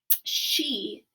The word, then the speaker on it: she: is actually pronounced she remember that e on the end says the long sound instead of the short sound so our s h